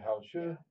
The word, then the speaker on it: 好吃: Hao Tzu means good food. Delicious. So if did I say it right? Delicious. The 好吃. Yeah, Hao Tzu.